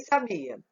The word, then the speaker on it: sabia: E sabia? Sa, bi, a. Então, sabia, sabia, sabia, sabia. Ó, o bi. Então, se o bi é a sílaba tônica, então vamos ver.